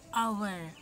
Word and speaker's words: hour: is a silent one h is a silent letter in this world so